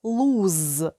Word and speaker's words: lose: вимовляється як с лус Якщо ж воно пишеться з однією Оу це дієслово луз і S вимовляється як з перекладається воно як губити